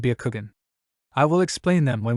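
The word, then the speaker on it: Byakugan: let out a chuckle it's pronounced shangan and Bakugan I will explain them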